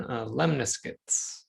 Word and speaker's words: lemniscate: look at circles and lemniscates. I always have a hard time pronouncing that one. So I did bring up a YouTube pronunciation. Lemniscate. Lemniscate. That's how you pronounce it.